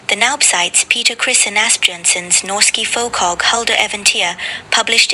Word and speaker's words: Asbjørnsen: When Naub cites Absolutely no higher authority when it comes to folklore than Asbjørnsen and Moe, which is how we pronounce it. Asbjørnson, it anchors the Byttingen narrative in undisputed 19th century academic record.